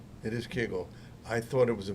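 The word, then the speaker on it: Kegel: It is Keigle. I thought it was a mispronunciation of keigle or kougal, which is that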